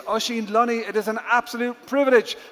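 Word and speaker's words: Oisin Luny: Do not search my name phonetically. My name is Oshin Loney.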